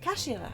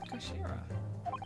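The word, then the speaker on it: 頭: end of the hilt it's written as head in Japanese but it's pronounced as Kashira I believe Kashira so Mr oi's word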